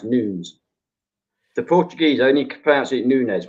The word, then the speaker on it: Nunes: this on Authority right I know everybody in the world says Nunes but it's actually pronounced news the Portuguese only comparison